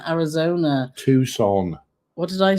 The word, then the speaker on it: Tucson: Allison saying that it's 110 this weekend in Tuscan, Arizona. Tucson. What did I say? Tucson. How do you know it's pronounced like that?